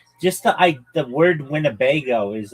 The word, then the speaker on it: Winnebago: Just the I the word wnebago is like funny. It's wingo. It's four um syllables.